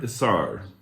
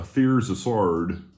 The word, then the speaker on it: Aeterna: I'm gonna attempt to not butcher this, but it's a Aeterna, or as some Americans say it, a Aeterna.